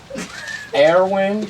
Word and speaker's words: Airwin: r i r okay now how do you pronounce the word w i n way put those two birds together airwing yes perfect just do that Awin awin's a Sil as you leave uh you